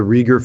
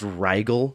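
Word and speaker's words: Riegel: all over the place uh Sam the the Rieger family was off in Arizona on a ranch within some of the other guys it's pronounced rigel come on the Regal family all right well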